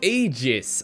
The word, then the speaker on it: Aegis: So it's pronounced Aegis.